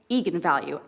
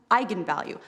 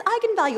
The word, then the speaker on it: eigenvalue: the director said yes that is how you pronounce it so i went out there and said that's right eagan value and then apparently the internet went nuts when it came out because apparently it's pronounced eigenvalue that's how you're supposed to say it and